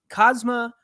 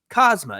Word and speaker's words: Kazuma: Now, if there's anything I know from watching AEW and New Japan Pro Wrestling, it's that sometimes that U in the second syllable is silent. So I believe it's Kazuma.